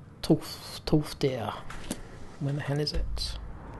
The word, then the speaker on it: Tolfdir: So, let's go and find Tolfir, whatever his name is. What's his name? At least pronounce it right. Tolfdir.